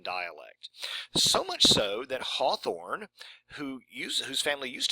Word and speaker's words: Hawthorne: it always was pronounced Hawthorne it was always spelled without a w and it was pronounced like both or fa or or